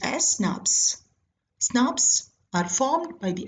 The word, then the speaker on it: snRNP: are promoted by small nuclear ribonuclear protein particles pronounced as snaps Snaps are formed by the Association of small